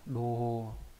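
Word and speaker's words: 同胞: Có hai cách đọc là bô và hô, đây viết rõ ra đây nhá, sai bô. Trong đây đọc là sai bô này, còn trong cái từ đồng bào này đọc là hô, đô hô.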